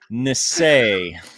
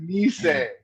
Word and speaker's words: Nisei: have JY numeral 2 Nisei. No, you're close, but I would have said Nisei.